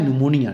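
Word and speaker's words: pneumonia: हो इनसे अगला है निमोनिया ठीक है पी साइलेंट रहता है और इसको बीमारी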